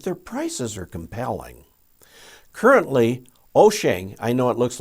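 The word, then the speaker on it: Wouxun: three have but their prices are compelling currently oshang i know it looks like wukson but it's pronounced o shang was the first and offered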